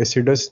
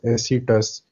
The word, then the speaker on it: acetous: This is नॉट a spelling mistake, ये एसिडस नहीं होता, ये बिल्कुल ठीक लिखा हुआ है, ACETOUS, एसिटस।